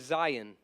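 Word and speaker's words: zayin: got next one is Zion Zion rhymes with Ryan so it sounds like Ryan Ryan Zion okay it's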